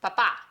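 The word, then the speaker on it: papà: Now if we look at this word, which has an accent on the final letter, the stress is indicated by that accent. So this one's pronounced papa.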